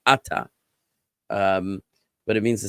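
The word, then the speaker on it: אתה: word here it's actually the emphasis is on the first syllable ATA um but it means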